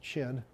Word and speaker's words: Qin: cue dog on cue Qin Shi Huangdi the first emperor it's pronounced chin anyway so it and